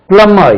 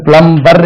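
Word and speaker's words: plumber: pipe எல்லாம் நல்லா வருவார்ல பிளம்மர் இது பிளம்மர் பிளம்மர் பிளம்மர் பிளம்மர் பிளம்மர் இது பிளம்பர் இல்ல பிளம்மர் பிளம்மர் கூப்பிட்டா அவர் வரமாட்டார் நான் பிளம்பர் தான் சார் நான் பிளம்மர் இல்ல பிளம்மர் சோ பிளம்பர் சொல்லக்கூடாது பிளம்மர் right please call a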